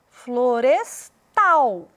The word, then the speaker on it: florestal: Na palavra florestal, parece muito com a palavra floresta, mas a ênfase veio para o tal, florestal.